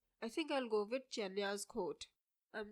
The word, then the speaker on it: Genya: I used to pronounce her name as Genya, but I recently found out that it's called Jenya.